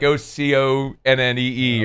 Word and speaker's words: Oconee: Oconee County. Yeah, so nobody really hardly knows how to pronounce that Oconee. either. It's like Oconnee or something.